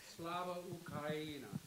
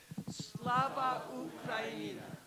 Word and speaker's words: Slava Ukraini: I want everybody to pronounce it right. Please stand up. Slava Ukraina. Slava Ukraina.